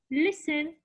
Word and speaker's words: listen: I will listen, this is, I have T here. The T here is silent.